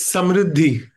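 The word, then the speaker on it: समृद्धि: A palavra prosperidade, como é que vocês pronunciam em hindi, Manoj? It's Samriddhi.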